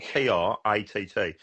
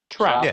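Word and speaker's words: Tratt: I can pronounce my R's, but how would you pronounce somebody spelled T-R-A-T-T? He's a twat, in my eyes. Trout. Yeah. You're such a southern. No, it's not trout. It's T-R-A-T-T. Trat.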